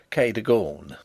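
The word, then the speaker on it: Cadogan: housekeeper was called Kagan a name made locally possible by being pronounced K deor only those who have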